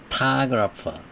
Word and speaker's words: photograph: 그런데 작가가 아니고 ER 빼버리고 photograph. 사진만 얘기할 때는 photograph만 얘기할 때는 맨 앞에 음절에 액센트가 있어요. photograph, photograph, photographer, photograph, photographer 이렇게요.